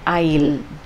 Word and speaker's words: aisle: that is called an aisle okay and the s is silent there and when you travel